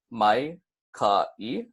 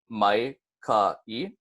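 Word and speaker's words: maikaʻi: kha and the e instead of saying my Takei since that Oh kina is there you'll be able to say Mike lucky instead so Mike ie is pronounced my ha e one more time you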